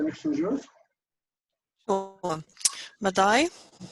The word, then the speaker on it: Madai: Madai, 2 syllables, ma and dai.